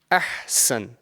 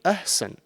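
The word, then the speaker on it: أحسن: into like 3 sections, try and pronounce this ha from the middle of your throat. And it's often mispronounced and confused with the other ha, which is a lighter ha. Yeah? So if over here I have this one word, ahsan, yeah, ahsan, and it's very, very common that someone can, mispronounce this and say ahsan.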